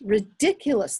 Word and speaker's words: ridiculous: count four syllables good all right which syllable is stressed this we haven't talked to you know how word stress yes ridiculous the second one so when you say